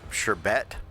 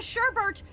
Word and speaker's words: sherbet: look to i'll accept shabe before i'll accept sherbet you know it's not like there's not an other r in it people add a sherbert the it's the second r that i have